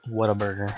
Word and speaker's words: Whataburger: And you say it like Whataburger, but it's Whataburger, you know?